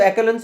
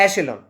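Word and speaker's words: echelon: एक तरीके से जो, देखो वैसे तो एक्लोन्स होता है, लेकिन अगर इसका सही प्रोनाउंसिएशन करें तो एशेलॉन, ये क्या बनता है, एशेलॉन, जो टॉप के जो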